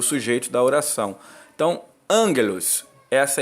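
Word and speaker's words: ἄγγελος: né que seria o sujeito da oração Então angelos essa é a expressão correta o o gama ele é pronunciado como guimel do hebraico né ele o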